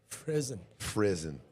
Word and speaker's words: Frizzin: Frizzin. Rhymes with prison.